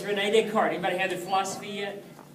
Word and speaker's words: Descartes: It looks like Descartes for those of us in the East Texas. Those French are crazy to say it Descartes, all right? So it's Rene Descartes.